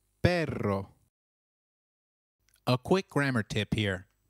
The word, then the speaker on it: perro: Note that double R in Spanish can also be referred to as rolled R. The pronunciation is almost with a vibrating sound. So try saying perro, which means dog again. It is perro.